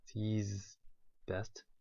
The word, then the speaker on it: ZZZZ Best: The pronounce is Z's best.